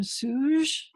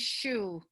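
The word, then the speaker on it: Sjöö: I'm going to mispronounce her name, Suge. And the one on the left is Silkscreen. Her name is Shu. I met her, so I know.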